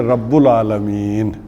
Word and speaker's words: رب العالمین: تو رب العالمین۔ اچھا، ویسے ایک اور طریقے سے بھی یہ لفظ پڑھا جاتا ہے، جیسے میں نے کہا کہ کوئی شے پیچھے نہ ہو تو پڑھتے ہیں رب العالمین، صحیح تلفظ یہ ہو جائے گا کہ رب العالمین، اور اگر یا لگا دیں تو یا رب العالمین، با کے اوپر کیا ہو جائے گی؟ زبر۔ یا نے جو ہے وہ کیا کر دیا؟